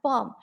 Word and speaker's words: bomb: a new sound so they are called as silent letters we have bomb the b cylon is b is silent there